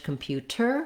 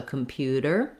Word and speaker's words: computer: And then you might notice also that we don't say in American English computer with a t sound, no puff of air on our T. We use what's called a flap T here. It just sounds more like how we do the D sound in the middle of words. So computer, not computer. Again, also you notice that